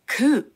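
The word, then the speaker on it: coup: ましたまずは空クーデターです綴りは See oup ですが発音は空と最後の P を発音しませんこれはフランス語源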